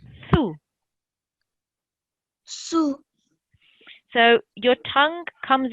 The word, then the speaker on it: ث: Okay, so the th sound is a very soft sound, and it's pronounced like this. Thu.